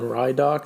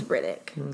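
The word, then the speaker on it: Ridoc: That's probably better than Rydok that I was I think saying. it's Riddick. Let's go with Riddick.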